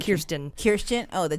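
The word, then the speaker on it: Kirstjen: And that's what it sounds like Kirsten Yeah, Christian with a J. It's Kirsten.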